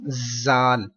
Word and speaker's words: Zal: Zal is stretched equal to 3 alif, and don't pronounce with whistle, like don't pronounce zal. Zal. Just 3 letters are pronounced with whistle. This one, za. Just za can be read with hard, like with whistle. And zal will be read with soft voice.